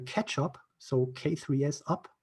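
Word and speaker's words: k3sup: this excellent tool called ketchup so k3s up so you pronounce it catch up as far as i know um that comes from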